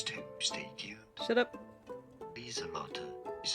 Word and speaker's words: Lieselotte: Lieselotte is how it's said.